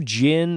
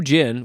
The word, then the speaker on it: Djinn: In round 3, we have the Blue Djinn of Babylon against Malekda.